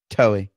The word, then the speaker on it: Toei: Toei. It's like Joey, but Toei.